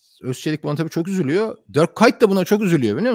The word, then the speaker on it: Dirk Kuyt: Bu Dirk Kuyt nasıl telaffuz ediliyor söyler misiniz diye söylüyorlar. Hepsi Dirk Kuyt, Kuyt işte o aksanlı şekilde.